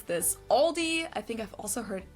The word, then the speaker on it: Aldi: Or they also sometimes add an S that isn't there in the end and say Aldi's in German.